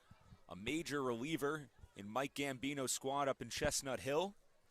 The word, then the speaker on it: Gambino: what a baseball name Gambino rhymes with the old Bambino baberuth he deserved to